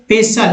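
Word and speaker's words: pestle: Next दोस्तों पेशल, जिसमें टी का उच्चारण नहीं हो रहा है, पेशल मीन्स होता है मुसल, एक तरह का जो है समझ सकते हैं मुसल क्या होता है।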